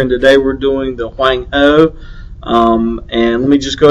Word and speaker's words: Huang He: I do know that it's the Huang He, as spelled here on the board. That's the pronunciation, as I've been told by people who are smarter than me.